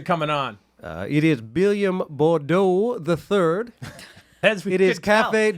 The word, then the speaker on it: Bourdois: It is Billiam Bordeaux the Third. It is Café du Vie, Okay. French pronunciation, and New Orleans, not New Orleans.